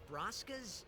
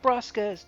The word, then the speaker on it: Braska's: like her you know you don't say lord broska's daughter right lord braska's daughter now lord braska is